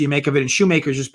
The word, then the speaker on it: Shoemaker: make of it and shoemaker's just been a schumacher i'm not sure how i was pronouncing makers right shoemaker so he's uh he's